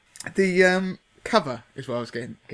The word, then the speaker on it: Cuvva: Now, when I saw the name, I was thinking, what does that actually say? Because it's spelt CUVVA. And obviously it's the kind of slang way of saying cover. And now I say that from a man who was born in the place where the word chav came from. So I can say it with the correct, the correct pronunciation of cover.